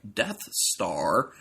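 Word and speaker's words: Dt's Tarw: called death star yes when said fast enough sounds like death star from Star Wars but it's spelled D T apostrophe s then the second word is t a r w so death's tar but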